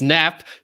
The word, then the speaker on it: Knapp: next to you okay so it is it's nap k is silent and maiden name is